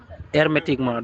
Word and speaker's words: hermétiquement: Et que les greniers demeurassent, vous voyez, hermétiquement. Donc hermétiquement commence par un H muet.